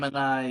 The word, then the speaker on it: Aquemini: How do you say that name of that album? Aquemini, yeah, yeah. Aquemini, yep.